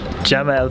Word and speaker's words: jebel: in Arabic I promise so I've been saying it wrong this entire time it's jebel for that the big